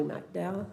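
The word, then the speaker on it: McDowell: the manager's proposed budget I like how you say his last name like the county mdal mdow I've heard it pronounced both ways um good evening everyone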